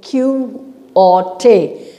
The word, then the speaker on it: Quixote: before i told you q-u-i-x-o-t-e is not don quixote it is q orte x is silent you don't say the